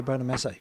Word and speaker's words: Bonamassa: Is that right? Bonamassa? Is that how you say his name? Bonamassa. Yeah, Bonamassa.